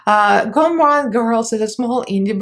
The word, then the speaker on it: Gourmande: link my discount code here and the correct pronunciation and spelling of the name uh gomron girls is a small indie brand owned by